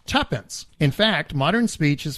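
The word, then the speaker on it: twopence: It is, of course, 2 pence, pronounced tuppence.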